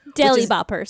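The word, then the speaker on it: Deely Boppers: the term Deli Bopper to learn how to spell it, it's DEE, 2 E's, LY, Boppers. Deli Boppers.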